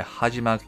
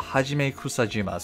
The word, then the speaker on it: Hajime Kusajima: and all of Karen's Pokemon is done by hajima sorry I butchered that name but Hajime kusajima so he or she is the one that